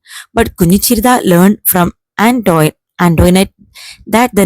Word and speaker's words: Antoinette: Most of them pronounced it as Antoinette, but Kunichirda learned from Antoinette that the name ought to be pronounced Antoinette.